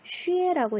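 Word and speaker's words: 雪: 자, 그러면 X 이거 지치시 할 때 씌우셨죠? 더하기 위에 했더니 어떻게 읽어요? 쉬에라고 읽겠다.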